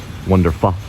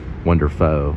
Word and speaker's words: WonderPho: you know like Asian this is known as wonderful so it's Vietnamese noodles spring roll bar it's actually to be pronounced wonderful but as Americans we say foe so it's